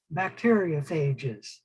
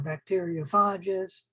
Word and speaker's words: bacteriophages: cells we call those bacteriophages or bacteriophages both pronunciations are correct and all they are